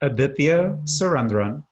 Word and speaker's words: Aditya Surendran: at home uh yeah just adipia surendron and just for short for those of you